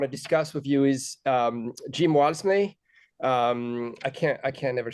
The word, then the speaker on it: Jim Walmsley: And so the first subject that I want to discuss with you is Jim Walmsley. I can't never say his name right. Can you say his name for me? Jim Walmsley.